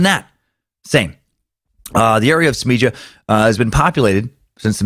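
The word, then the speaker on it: Smiljan: Tesla's birthplace, Smija, there I'm saying it right, in the mountains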